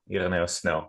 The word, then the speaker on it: Snel: Netherlands my name isoo snow snow is a real Dutch Dutch name on the other hand um it's a Greek Greek name nice and where are